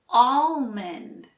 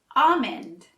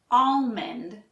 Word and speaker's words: almond: about this next one that L is tricky you might guess we say almond but the L is actually silent we say almond it technically isn't wrong if you pronounce the L almond but it's usually silent for us also notice I